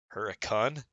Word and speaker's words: Hurricane: They pronounce it all special. Oh great. Huracan.